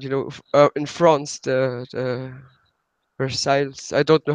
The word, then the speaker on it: Versailles: at Versailles and you know in France that Versailles I don't know how to proceed English there's also this news pronounced in French this bear sang okay there's this monk there's a store or